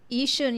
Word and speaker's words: Yishun: Yishun, yeah, you're right.